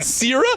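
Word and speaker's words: Cera: Sierra. That's how you say it.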